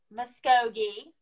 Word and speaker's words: Muskogee: She is, let me make sure I'm saying it right, Miss Muskogee.